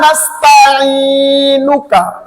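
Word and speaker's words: نستعينك: আবার বলেন নাস্তা, জেরের বাম পাশে যজমালাইয়া মদের হরফ হইলে তাহার ডান দিকে হরকতের উচ্চারণ এক আলিফ টানিয়া পড়িতে হয়।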